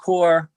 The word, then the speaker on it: corps: When you mention corpse, I know what you mean. This is for the transcription. It's CORPS, and sometimes it's pronounced corpse, and sometimes it's pronounced core.